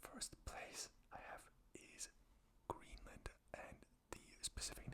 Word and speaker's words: Greenland: You don't want to get caught up in the invasion of Greenland.